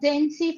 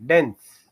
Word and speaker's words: dense: Uh once upon a time there was a densy forest. They were there was a dense forest. Densy densy forest. Not densy. Dense dense forest. The pronunciation is tense.